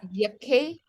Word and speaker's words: Yakʼéi: okay, Yak'éi. so your A is pronounced more as an E.